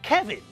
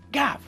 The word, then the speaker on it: Gav: Some other people pronounce my name as Kevin. This is also wrong. That's a different name. I've got a cousin whose name is Kevin, but my name is pronounced Gav.